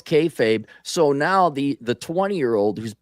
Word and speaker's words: kayfabe: Well, right, but everyone kind of knows it's kayfabe. See, I pronounced it correctly there. They know it's kayfabe.